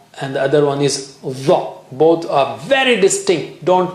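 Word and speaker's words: ظ: And the other one is dha with the tongue tip touching there near the edge of the upper teeth. Dha.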